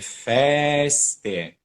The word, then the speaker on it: feste: it's e le pompose feste. For example, in the word feste, there are 2 E's. So the open one and then the closed one. So try to really pronounce them differently.